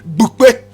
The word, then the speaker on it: Bupe: Correct pronunciation, Bupe, Bupe, Bupe.